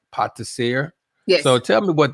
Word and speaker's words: pâtissier: I want to say it right, pâtissier.